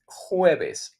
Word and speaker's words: jueves: Jueves, Thursday. Thursday in Spanish is jueves with the J. But remember again, it's smooth.